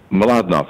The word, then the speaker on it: Mlodinow: do you say your name a lot enough Malad not yeah the mlo di nlw for those who